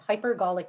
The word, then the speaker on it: hypergolic: latent explosion triggers including batteries fuel cells and hypergolic fuels and what is the uh can you please pronounce it again hypergolic hypergolic am i saying it correctly yes h